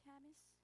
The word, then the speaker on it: Camis: You nailed it. You got it right out of the pronunciation. Appreciate it. My name is Camis. I'm the consultative representative for the Association of Brownsville Educators.